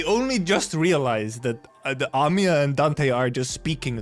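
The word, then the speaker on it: Amiya: Please just call me Amy. By the way, it is it is indeed Amia, not Amy. It's a long a I'm Dante, manager of Limbus company.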